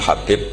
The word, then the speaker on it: Habib: yang nulis Abi Abdurrahman Habib asulami itu di harakatnya kitab itu ada yang nulis hubb Yang benar Oh giih yang benar itu bacanya habib habib itu asulami itu ikut